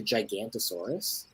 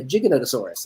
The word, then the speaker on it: Giganotosaurus: he'd watch that and i always called it like the gigantosaurus like it looks like gigantosaurus like that's got to be how you pronounce it right i'm watching this show and they're like oh no the giganotosaurus and i'm like oh my god how did giganta become giganotosaurus like that doesn't make